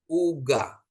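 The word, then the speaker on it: עוגה: ya yang mengikutinya ya Jadi ini u ini ya jadi bacanya u ini ga Gmail dikasih kamat bacanya jadi ga Uga Uga ya Jadi biasanya bapak ibu Bu kalau untuk he di belakang itu dalam pembacaan sering tidak dibaca ya tapi dalam penulisan harus ya Bapak Ibu ya jadi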